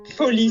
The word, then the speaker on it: folie: Folie, ça se prononce folie.